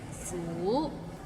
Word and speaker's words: 苦: Maybe it's the second tone that's hard to pronounce. Like 苦.